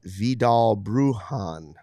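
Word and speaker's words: Vidal Bruján: for you so anyway Craig brindle says viall bruhan I think he's correcting me because I didn't know how to say his name yesterday when that's good I didn't know how to say it either bruhan vll bruhan I'll go with that that's phonetically how it says let's go with it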